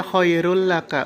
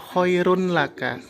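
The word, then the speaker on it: خَيْرٌ لَكَ: Jadi dibacanya khairul laka, bukan khairun laka.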